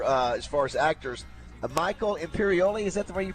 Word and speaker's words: Imperioli: Michael Imperioli, is that the way you pronounce his name?